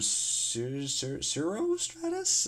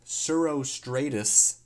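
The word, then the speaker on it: cirrostratus: up they're formed when zero Stratus uh zero such uh um I should probably look up how to pronounce this hold on uh yeah they're formed when surostratus descend from higher up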